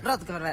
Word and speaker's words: Rothenberg: Estamos con Rothenberg para charlar, dirigente del masismo, me parece que lo pronuncié mal. Estuviste cerca. Apellido, estuve cerca. Sí, por aproximación está Bueno, bien. decilo. Rothenberg, ahí está.